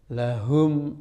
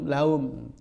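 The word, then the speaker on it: لَهُمْ: Lahum ajruhum ain. Jangan laum. Ini kalau tidak dibimbing terus anak-anak sampai khatam pun tidak bisa. Karena apa? Berbeda dengan pengucapan huruf hak dalam bahasa Indonesia.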